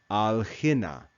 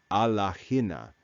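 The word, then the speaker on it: ἀλλ᾽ ἵνα: shortened with an apostrophe the actual conjunction is Allah which means but and then Hina so that to make it easier to pronounce the final alpha in Allah is cut off and we read al Hina al Hina rather than Allah Hina al Hina but so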